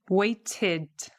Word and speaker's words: waited: Wait, waited. Wait, waited. End, ended. Decide, decided. So you can see there we're adding an extra syllable, waited.